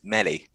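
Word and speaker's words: Mæhle: Attacking wise, we have another pronunciation to Mel, which is Meli. So could be Meli.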